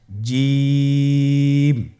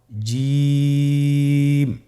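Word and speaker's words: جيم: জিম হরফটি বারিক হরফ, এটা উচ্চারণ করতে হবে 3 আলিফ টেনে। দেখুন আমি কিভাবে উচ্চারণ করছি, আপনারা আমার সাথে করুন জিম। মাশাআল্লাহ, আবার বলুন জিম।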